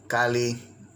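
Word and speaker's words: calli: and the absolute suffix, with the understanding that it's pronounced as simply one L.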